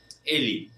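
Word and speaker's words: ele: Vamos a tratar de memorizar que la e final se pronuncia como una i. Eli, ella.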